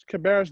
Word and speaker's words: Cabarrus: Talk about your time at Central Cabarrus.